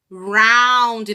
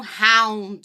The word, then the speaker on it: round: Ele não é um R assim forte como de cachorro. Ele é pronunciado com a ponta da língua tocando o céu da boca. Então, ele é fraco. Por exemplo, round, não round.